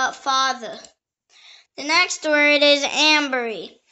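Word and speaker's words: anbury: The next word is ambery. It can also pronounce ambery or anberry or amberry. It is spelled A-N-B-U-R-Y or A-M-B-U-R-Y.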